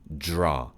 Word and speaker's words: draw: dr 이중자음은요, 드로가 아니고 draw, draw. 지읒과 r의 혼합 소리예요.